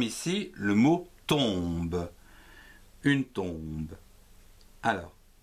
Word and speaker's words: tombe: le mot tombe, une tombe. Alors, T, O, M, ton, B, E, be, tombe.